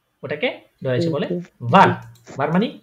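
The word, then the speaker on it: wer: ভার ভার ভার হ্যাঁ শুনেন বান একদম ভে না এটা উচ্চারণ করার সময় আপনার নিচের ঠোঁটের মাঝখানে আপনার উপরে যে দাঁতগুলো আছে সামনের ওগুলা লাগাবেন লাগায়ে নিচের ঠোঁটটা একটু নিচের দিকে ব্যাখ্যা করে তার উপর উচ্চারণ করবেন যেমন ভার ভার ভে ভে আপনারা উচ্চারণ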